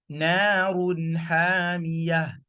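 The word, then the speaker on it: نَارٌ حَامِيَةٌ: You pronounce the Nun sukoon or fatatan kesoten domatan, pronounce it clearly, then you pronounce the alphabet after it. Let's go to Ha. In Surah Al-Qari'ah. Narun hamiyah.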